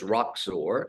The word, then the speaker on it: Roxor: And then the name is Roxor, which, if you can see this, we say on the rocks, shaken or stirred.